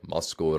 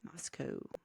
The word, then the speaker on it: Moscow: So when we think about Russia, we say Moscow. But when you listen to them on the news, it's like Moscow, Russia. Yes. So we say it like they say it. Okay. So if you want to be a true local, you say Moscow. Moscow. Okay. Moscow. Imagine like the W got ejected out of the game and